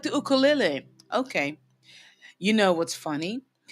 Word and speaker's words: ukulele: I know you guys say ukulele, but here we say ukulele, okay? Because that's really how it's pronounced.